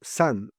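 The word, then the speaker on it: 山: Quand vous voyez le caractère de la montagne seule, vous le lisez Yamaise. Mais dans un mot composé comme volcan, kaan, c'est-à-dire montagne de feu, il se prononce san à la chinoise.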